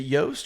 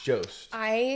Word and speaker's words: Jost: Is it Yost or Jost? It's Jost. So I've always said Jost.